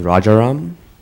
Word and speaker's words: Reram: the first part right the last name is reram accent I had the accent on the wrong syllable it was pretty close